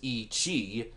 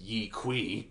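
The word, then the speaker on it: Yi qi: Its full scientific name is E. Chi, but it's Y-I-Q-I is how it's spelled. So us dumb Americans pronounce it Yi Kui or Yi Ki.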